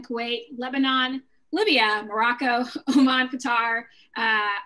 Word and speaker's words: Qatar: lebanon libya morocco oman qatar uh our cutter is what i've heard is the proper way to say that actually um saudi arabia syria